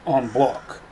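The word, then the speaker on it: en bloc: clip, moon clip, and on block clip. On block is a French term. It means all together. And in French it would be pronounced onb block not end block.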